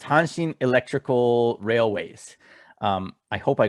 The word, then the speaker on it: Hanshin: So the Tigers are the Hanshin Tigers, and Hanshin is actually the name of the company that owns the team.